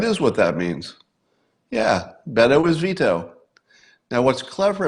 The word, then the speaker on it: Beto: forget is it is it BTO oh it's Beto is it veto beo vetoo and then you'd be mispronouncing his name apparently I've been Mis pronouncing